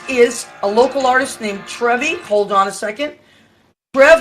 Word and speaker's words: TREVi: Okay, so everybody, I just want to let you know, this is TREVi. Am I saying it right? Right. Okay. Just like the fountain.